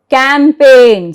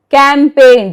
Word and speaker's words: campaign: Campaign. See, we are not pronouncing G here. Campaign.